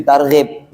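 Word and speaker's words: ترغيب: Kalau tarhib itu sebenarnya menakut-nakuti dari rahaban warhaba. Jadi takut ee apa namanya? Kalau mestinya meskipun tulisannya sama tarhib sama tarhib kalau bahasa Indonesianya ya. Kalau mestinya kalau kita bacanya pakai hak tarhib ya kan. Kalau tarhib nakut-nakuti orang puasa. Tarhib tarhib Ramadan. Makanya di tahun yang lalu ditulisnya sama Ustaz Junidi targhib. Nah, supaya nak salah baca ya kan.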